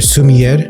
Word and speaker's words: sommelier: He calls himself a water sommelier or sommelier. How do you pronounce this word?